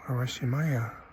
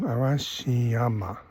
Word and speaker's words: Arashiyama: need to go to arim Maya arashi I keep getting the name wrong arashiyama arashi Mountain well this was nice